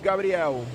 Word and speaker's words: Gabriel: Gabriel. Okay. Because Gabriel is pronounced as a girl's name in American English.